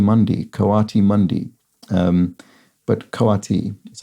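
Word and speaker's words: coati: whose name's name is spelled c-o-a-t-i um is pronounced which I think I said koti or something like that full name kawati Mundi koati Mundi um but kawati is how that's pronounced and there were a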